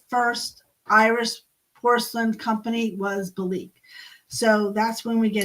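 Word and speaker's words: Belleek: But in 1849, John Caldwell Bloomfield inherited his father's estate in a small market town of Belique, or Belize, Belize, as it's pronounced, which means flagstone forge in Ireland.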